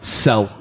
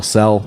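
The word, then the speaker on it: Tsel: Since July 11th, it turns out at least 3 Wagner convoys were moving to Sel, Belarus. I think it's pronounced Sel. T-S-E-L, Sel, probably silent T, I don't know.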